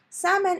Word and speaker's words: salmon: salmon or we eat salmon L is silent salmon is a kind of